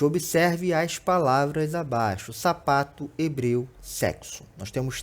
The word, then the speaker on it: hebreu: Quando a gente fala hebreu, se tirar a letra H dali, a gente tem o mesmo som.